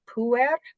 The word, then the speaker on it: puer: that's what I think of when I see I learned to pronounce that puer, puer. Right. and so we go puer. Oh, puer. All right, Poor that could work.